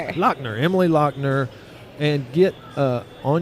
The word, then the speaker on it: Lochner: Lochner.